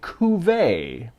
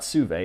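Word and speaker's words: Cuvée: this is their Rye Cuvee. We did look up how to pronounce that prior to this video. It is very French. It's not Cuvee. It's not Cuvee, it's Cuvee.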